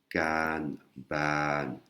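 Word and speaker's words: การบ้าน: Voilà, c'est 2 syllabes. Kanban, kanban, hein, le mot devoir. C'est ce qui donne le rythme au mot. Pour bien faire la distinction entre les 2 syllabes et prononcer correctement.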